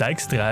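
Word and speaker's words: Dijkstra: we also meet sigismund dykstra whose name should actually be pronounced extra if you want to get technical and colonial about it he is a spymaster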